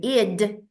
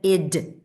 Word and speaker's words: id: And then we have the id. In German, it simply says das Es, the it, the that, id. Not ID, please. People keep calling it ID, but it's id. That's how you pronounce it.